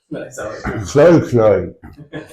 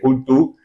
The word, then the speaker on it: Cthulhu: No one knows. Cloy. Yeah, I think there is no consensus on how to pronounce Cthulhu. Cthulhu. Many different opinions. I'm just going to call the big green guy Cthulhu because it's clearer that way.